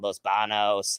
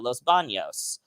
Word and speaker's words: Los Banos: never been to any of those like visalia los banos they call it los banos but it's actually uh los banos is how you would actually pronounce it but